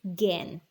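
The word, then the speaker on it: gangue: ores are called gen g-a-n-g-u-e pronunciation is gain what is gain ores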